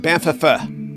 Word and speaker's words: Banff: Banff, it's pronounced Banff.